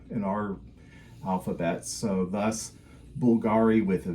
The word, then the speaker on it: Bvlgari: italianized the name to Bulgari and used the Latin letter V which was sounded as the U in our uh in our alphabet so thus Bulgari with a V it's pronounced Bulgari but it's just sort